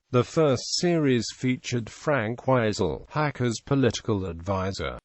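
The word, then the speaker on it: Weisel: first series featured Frank wiisel Hacker's political advisor the first syllable of his surname is pronounced wise but Sir Humphrey and Bernard persistently call him weasel wisel does not appear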